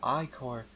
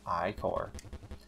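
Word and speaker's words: ichor: can fill it with magical eye car that's pronounced i-core choose your eyes or wisely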